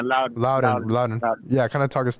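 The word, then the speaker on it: Loudoun: to begin playing with, I don't know if it's pronounced Loudon or Loudon. Yeah, Loudon.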